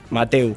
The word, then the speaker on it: Mateu: Hay gente que le dice Matthew. 4. Y algunos le dicen con un poco más de estilo. A mí no me parece mal cada uno. Pasa que cómo sí. Se escribe M-A-T-E. Mateu, sin Mateu. H. Sí. Claro. Sí. Pero bueno, si tal vez tenés un poco más de glamour, de estilo, Matthew. De tendencia, Matthew.